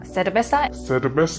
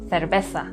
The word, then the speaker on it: cerveza: La palabra cerveza, por ejemplo, se pronuncia cerveza en América Latina, pero cerveza en España.